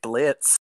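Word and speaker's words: Blitzø: Well, I'm Brandon Rogers, and I play Blitz. The O is silent, and and I play a multitude of other characters on YouTube.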